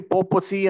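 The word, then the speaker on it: papacy: ಪೋಪಿನ ಆಡಳಿತಕ್ಕೆ ಇರಂತ ವಾರ್ತೆ ಪೇಪಸಿ ಅಂತ ಆಕ್ಚುಲಿ ಪೋಪಸಿ ಅಂತ ಬರ್ತದೆ ಅದನ್ನ ಉಚ್ಚಾರಣೆ ಮಾಡಕ್ಕೆ ಪೇಪಸಿ ಅಂತ ಹೇಳಿದ್ರೆ ಇದನ್ನ ನಾನೇನು ಹೆಸರಿಡಕ್ ಹೋಗಿಲ್ಲ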